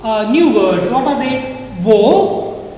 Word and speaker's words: au: wo and wo. Same pronunciation.